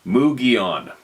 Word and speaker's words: Mogollon: I spent a lot of time in the mountains of Arizona and the Mogollon, pronounced Mugion.